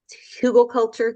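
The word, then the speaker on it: Hügelkultur: could even start by using a technique called hugelkultur. There's different ways to pronounce it.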